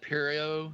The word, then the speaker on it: Pierrot: Pierrot, not Parrot. I thought it was Parrot, so it's Pierrot. Yeah, yeah. Okay. It's kind of like a French sounding name.